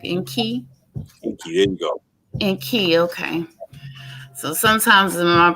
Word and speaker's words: EnQi: Um, Unique. Is that correct? EnQi? EnQi, there you go. EnQi, okay. So sometimes my pronunciation is whack, but I'm getting better every day.